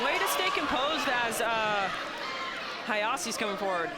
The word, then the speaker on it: Hajosy: Way to stay composed as Hajosy's coming forward. Am I saying his name right? I mean, I've got it down as Hajosy. Yeah. I mean, he told me it's Hajosy.